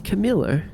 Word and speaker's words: Camilo: How would you pronounce that? Camilo. It's Camilo.